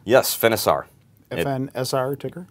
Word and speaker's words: Finisar: This other one, tell me if I'm pronouncing this right. Finisar? Yes, Finisar.